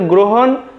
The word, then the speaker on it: গ্রহণ: সেই শব্দে তাহলে দেখো গ্রহণ এর শুদ্ধ উচ্চারণ হবে গ্রো আমরা লিখে নেব গ্রহণ দেখো হয় ওকার দন্তান্য হসন্ত তাহলে দেখো যদি মৌধন্য থাকে আমাদের লিখতে হয় দন্তান্য আর এখানে কেন যে আমি ওকার দিয়েছি ইতোমধ্যে তা তোমরা অবশ্যই পারবে তাহলে দেখো আমাদের গ্রহণ উচ্চারণটি হবে গ্রহণ